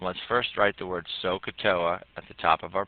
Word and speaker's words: SOHCAHTOA: confusing right now but three syllables separate them all out sohcahtoa where S stands for